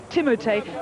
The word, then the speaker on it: Timote: So it's pronounced Timote, not named after the shampoo.